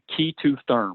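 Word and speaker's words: K2therm: called Keita therm and the way you spell that at the capital K lowercase e the number two and then therm key to therm you can look them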